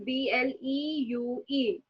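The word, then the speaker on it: bleue: So if you see the feminine color blue, so this is B-L-E-U-E. So this is bleu. This is also bleu.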